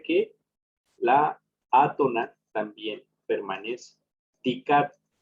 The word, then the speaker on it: dicat: Dicat, ¿cuál pronunciamos más fuerte? La I.